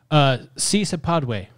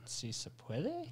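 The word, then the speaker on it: Sí se puede: Si se padwe. At least that's how Jill Biden pronounced it back in the day.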